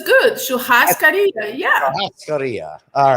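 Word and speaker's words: churrasco: but it's good yeah korea all right you have to think that double r is like a h for you i'm used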